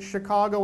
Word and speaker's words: Chicago: Sometimes we forget about Chicago's unique French history, but do you hear many other words that begin with the letter CH and are pronounced with a sh kind of sound? That's French, right?